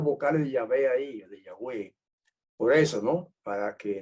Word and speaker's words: Yahweh: Jehová tampoco dice yagüey Pero sabemos que se pronunciaba yagüe el nombre sagrado ya en otro tema El que me está escuchando y quiere documentación se la podemos enviar documentación rotunda y enfática y Clara histórica etcétera de que la el nombre se pronunciaba Yahweh y noche me enseñaron